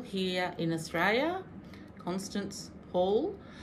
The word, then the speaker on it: Constance Hall: So that's by a lady called Constant Hall here in Australia. Constance Hall. In case I said it wrong the first time.